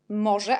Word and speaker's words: może: Może, parce que Z avec petit point et RZ, on prononce je, comme par exemple je suis en français. C'est la même façon de le prononcer.